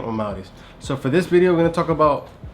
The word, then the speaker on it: Amauris: That's how you say my name, Amauris.